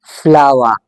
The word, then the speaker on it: flower: Word को pronounce करेंगे फ्लावर। यह फ्लोर नहीं है remember first of all okay don't never ever make the प्रंसिएशन mistake first of all this is never फ्लोर this is actually pronounce फ्लावर फ्लावर because आपको पता होगा